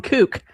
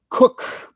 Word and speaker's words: Cook: Who I kept calling Kook. And Kook. She corrected us. It's Kat Cook. That's how her name is pronounced.